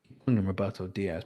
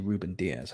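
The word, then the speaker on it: Rúben Dias: a difference to me roberto diaz because of robert dyers his name's actually reuben diaz i just i just say it wrong no no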